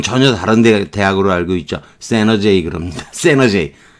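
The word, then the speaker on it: San Jose: 미국의 산 호세 대학교라고 있죠. 우리가 옛날에는, 스페인어 쪽으로 발음을 해서 산 호세 이렇게 발음한 거고, 여러분은 전혀 다른 대학으로 알고 있죠. 세너제이 그럽니다.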